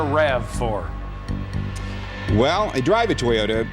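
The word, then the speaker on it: RAV4: toyota avalon odyssey celica rob4 land cruiser is that rob4 is that correct pronunciation pardon me that would be a rav for well i drive a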